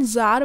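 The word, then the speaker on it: Tsar: हैं क्योंकि वहां पे जर बोला जाता था टी एस ए आर इसमें टी साइलेंट होता है तो जर भी उसके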